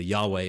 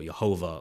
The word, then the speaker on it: Yahweh: name name of God as we would typically pronounce it today as either Yahweh or yahovah now cifi tries to